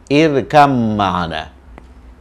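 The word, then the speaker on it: ارْكَبْ مَعَنَا: Kalau cara baca, ini irkab itu berakhir dengan ba. Ba itu makhrajnya, tempat keluarnya di bibir ya, ba. Ma, ini juga begitu. Mim juga bibir. Jadi oleh karena tempat keluarnya sama, maka dalam membaca, ba ini harus diasimilasikan ke mim.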